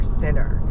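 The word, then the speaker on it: Sinor: they have their daughter, and I named her Sinner. Basically, it's spelled Sonor, like S-I-N-O-R, Saint and Sinner.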